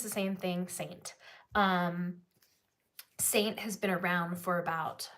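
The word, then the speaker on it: Seint: before let me know but Saint it's spelled with an E you can see it right here s-e-i-n-t it's still called Saint like um it's um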